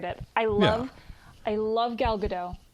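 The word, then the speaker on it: Gal Gadot: I love I love galado gal Gat I think is actually how you say it I heard somebody say it the other day when she was doing an interview and she didn't correct them so I'm assuming that's accurate which means I've been saying it wrong the whole time um but I love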